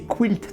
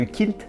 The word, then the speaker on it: quilt: est pour l'idée alors je vais prononcer quilt tout au long de la vidéo je trouve que ça a plus de charme que kilt et ça peut éviter certaines confusions alors quilt ou sacs